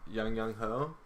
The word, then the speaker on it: Aguayo: Young Wei or Young Ho, Young Ho.